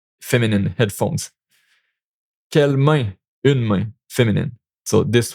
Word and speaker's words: quelle: Quelle main? Une main. Feminine. So this one. It's the same pronunciation. It's just the written version that is different.